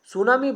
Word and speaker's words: tsunami: সুনামি বানানটা একটু খেয়াল রাখেন, দেখেন টিটা কিন্তু অতিরিক্ত মনে হচ্ছে এবং বানানটি হচ্ছে এরকমই, TSUNAMI, টি সুনামি মানে হচ্ছে সুনামি।